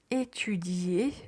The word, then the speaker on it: étudier: Faites attention juste à la lettre I qu'il faut prononcer.